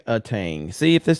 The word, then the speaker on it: Aang: higher that's so what see if I would oang Aang see if it spelled like that I would have said it the